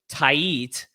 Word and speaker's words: Tait: Eduardo Tait. when we thought it was Tate, and I was completely wrong on that one.